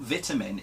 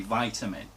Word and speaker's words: vitamin: It's not vitamin, it is actually vitamin. I mean, think about it. When you go to the hospital, they don't take your vital signs, do they?